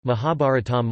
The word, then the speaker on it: Mahābhāratam: The Mahabharata US, UK, Sanskrit, Mahabharatam Mahabharatam, pronounced Ma-bhi-a-art-m, is one of the two major Sanskrit epics of ancient India, the other being the Ramayana.